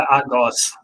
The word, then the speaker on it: Argos: No, we're Argos. Argo. We're not Argo CD.